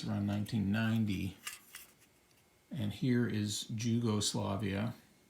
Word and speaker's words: Jugoslavia: And here is Jugoslavia, which I imagine is just, it's a different way of pronouncing it. The J forms the Y sound in some languages, and nobody really cares